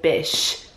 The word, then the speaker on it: bish: should this is this I said bish rhyming with fish is you know just